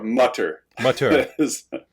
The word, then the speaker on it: Mutter: so we think and mother or mutter depending on how accurate you are with the pronunciation and butter so uh